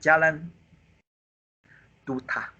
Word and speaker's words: Jalan Duda: So I changed my tone a little bit. Follow the Malay one. Jalan Duda. It's okay. I know. For Malay, in Malay pronunciation, this one in pinyin we read the d. This one read the t. Be careful. Like Duda, this is d and t.